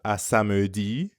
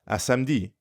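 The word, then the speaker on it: à samedi: gets messy so instead of a samudi you're more likely to hear a french speaker say asamdi it means the same thing asamdi asamji see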